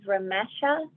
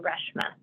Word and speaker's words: Reshma: Our last speaker on this segment is Ramesha. Sorry, I mispronounced the first name, Reshma.